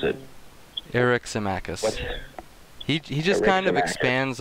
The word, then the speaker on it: Eryximachus: What did you guys think of the articulation by Pausanias and Eryximachus about the two different forms of love?